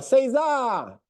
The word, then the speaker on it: César: A gente fala César. César. César. Essa é a pronúncia correta.